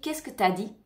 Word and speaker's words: qu'est-ce que t'as dit: Mais en général, on le prononce très rapidement et on dit qu'est-ce que t'as dit?